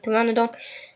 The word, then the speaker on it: Pteranodon: P is silent like Pteranodon.